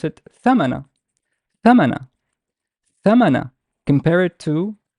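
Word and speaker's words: ثمن: I pronounce it thamana, thamana, thamana.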